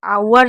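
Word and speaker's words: hour: तो ये जो आवर जो ओनर है इसमें याद रखिएगा। इसमें हम एच को साइलेंट रखेंगे और बाकियों में सब में एच को पढ़ेंगे।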